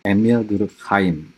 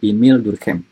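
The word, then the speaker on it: Émile Durkheim: Dulu saya membacanya Emile Durkheim. Padahal saya kira dia orang Jerman. Padahal sebenarnya sosiolog dari Prancis, jadi bacanya Emile Durkheim.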